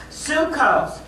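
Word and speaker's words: psyche: Sukkos is spelled S-E-U, so it doesn't get spelled like it sounds because it's from the Greek. Sukkos in put up Romans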